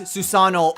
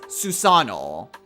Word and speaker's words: Susanoo: don't pronounce it as Susanoo all you don't pronounce that ii l it's just Susanoo you elongate it why do I make